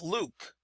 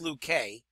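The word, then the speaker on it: Luque: we're going to utilize I don't really pronounce how sure you pronounce that pitcher's name but we're going to use him it's going to be Dolph Luke in 1919 nine wins three losses is 2.63 R Dolph Luke probably pronounced luk K but he will get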